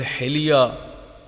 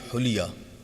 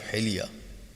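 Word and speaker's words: حلية: This word hilya is very easy for any Urdu speaking one to go ahead and fix it and make it hulya instead of hilya.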